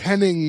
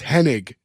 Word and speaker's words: Hennig: I' I've thought it was Henning my whole life. And it's Hennig.